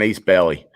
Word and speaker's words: Ace Bailey: Upper Deck does a lot, but this is an Ace Bailey.